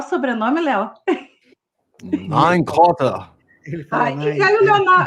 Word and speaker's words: Nienkötter: Mas os alemães da minha aldeia falavam. Como é que é?. Porque esse T-T-T-E-R vira um dá.